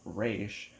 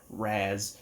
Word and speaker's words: Ra's: He also created a few characters, such as the guy that everyone pronounces as Raz or Raish, but actually it's Raz, so no one knows what the hell they're talking about.